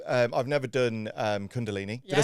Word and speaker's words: Kundalini: And it's I love like this because I've um I've never done um Cundalini.